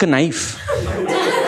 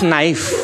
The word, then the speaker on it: knife: It's not knife. It's knife. The K is silent, just like you.